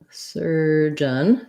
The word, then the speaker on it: surgeon: all right so surgeon surgeon just sounds like sir john the j sound so um you can write it like this jun schwa first syllable stress surgeon and oculus we